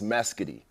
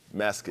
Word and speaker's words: Mescudi: I know I kind of confuse everybody with my rap name, but it's Meskity. Meskity.